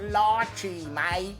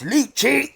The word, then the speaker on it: Lychee: everybody to tell me it's pronounced ly mate not liy it's liy